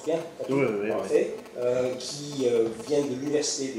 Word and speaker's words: Catuhe: Je prononce bien, Catu, parfait, qui vient de l'Université de Bretagne Sud,